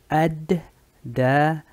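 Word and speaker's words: الدجال: Y aquí similar a as-salam y la otra palabra que arriba, la lam no se pronuncia. Ad-da-jal.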